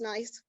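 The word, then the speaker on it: gneiss: that other piece the nice the g is silent so it's not good nice it's just nice it has nice lines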